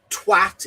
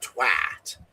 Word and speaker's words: twat: Yes, remember, Americans, twat is pronounced with a short A. It's not twat, it's not twat. It's twat. Short A, as short as possible.